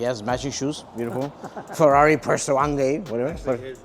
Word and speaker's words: Purosangue: Ferrari Purosangue.